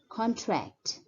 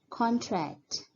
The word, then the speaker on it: contract: noun, the pronunciation is contract, contract. The stress is more on the first syllable, whereas when the word is used as a verb, the stress is more on the second syllable. It's contract, contract.